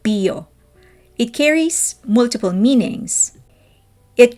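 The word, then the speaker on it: 비어: here goes word play they pronounce the word beer like bio it carries multiple meanings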